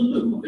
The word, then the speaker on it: Louvre: লুভার থেকে আমরা তো লুভার উচ্চারণ করছি ওরা কি বলছে লুভ্র আরটা উচ্চারণ হয়নি তাই না যে কারণে আমরা ধরতেই পারি না In front of the Louvre in Paris.